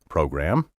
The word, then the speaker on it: program: Throughout the Verbal Advantage program, have you noticed how I've been pronouncing the word program? Many speakers today slur the gram and say program. Current dictionaries now countenance this slurred pronunciation, so I can't say categorically that it's wrong, but I can state my dogmatic opinion.